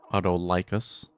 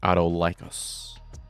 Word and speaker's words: Autolycus: to McDonald's every day, Autolycus? When I say licus, it kind of sounds like sickly. So it almost surely is pronounced Autolycus, because that's more cool sounding.